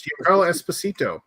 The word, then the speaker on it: Giancarlo Esposito: I'm going to try to say his name, Giancarlo Esposito. Esposito, yes, Giancarlo Esposito, who's plays Gideon.